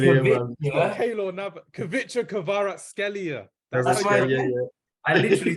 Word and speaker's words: Kvaratskhelia: Kvicha Kvaratskhelia. That's why I literally said that. Kvicha Kvaratskhelia. Oh my God, what is this? You're butchering this. Kvaratskhelia.